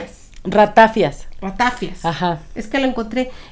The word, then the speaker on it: ratafía: ratafia pero en esta en este libro había acento en la i entonces dije ay yo creo que toda la vida lo he dicho mal no lo modificaron porque se le conoce como ratafia Sí y bueno muchos